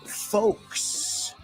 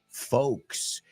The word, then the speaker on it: folks: The word is folks, gente. Y como la palabra talk and walk, we don't pronounce that L. It's silent, muda, una L, muda, a silent L. Walk, talk, folks.